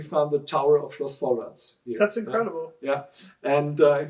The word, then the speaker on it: Vollrads: It's called Vollrads. I pronounce it a little bit harder because it was the way how the wine was pronounced at that time.